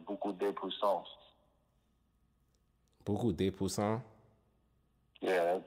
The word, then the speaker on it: beaucoup de puissance: The proper way to say it in French is beaucoup de puissance.